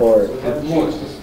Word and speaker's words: report: Report. Change the syllabication and change the accent. Change the accent for the second syllable.